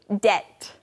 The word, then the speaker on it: debt: to someone now friends this word debt D BT is spelled with a B but we don't actually say the be we just say debt that's right now to